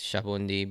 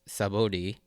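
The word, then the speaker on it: Sabaody: really call it anymore I mean in Japanese it's shabi but in the English romanization as well as the spelling it's sabod but regardless we kind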